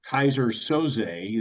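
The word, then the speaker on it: Keyser Söze: situation in Russia where this Kaiser Soay is is the way they pronounce it.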